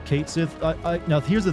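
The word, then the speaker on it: Cait Sith: game come out because it's supposedly it's pronounced caty but I think that's stupid and I've always pronounce it as Kate Sith I I don't know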